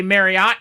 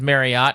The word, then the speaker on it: Marriott: Before you guys yell at me for saying Marriott, that's how it's said. You say Marriott cuz everyone says Marriott. It's actually said Marriott.